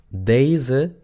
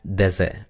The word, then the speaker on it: deze: ¿Se dan cuenta que cuando pronuncio esta persona, deze, la primera, si yo separo day y luego z, en una sílaba, no se puede. Tiene que ser en dos. Day, z. Entonces ahora entienden por qué la primera se pronuncia a pesar de que está escrita con una sola e.